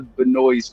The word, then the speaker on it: Benoist: last name it's it it looks like it it would spell but noise but i think it's probably pronounced different but melissa benoist how are you last